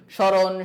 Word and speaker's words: স্মরণ: না আমরা কি বলি স্মরণ শ্মশান সারক সো শব্দের শুরুতে যদি কোন বর্ণের সাথে ম ফলা থাকে তাহলে সেই ম ফলার উচ্চারণ হয় না ওকে যার কারণে বানানের